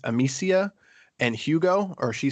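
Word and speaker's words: Amicia: play as I I I know her name is spelled A M I C I A, but because this is French again, I'm going to probably mispronounce it, but I think it's Amsia and Hugo or she says Hugo a lot.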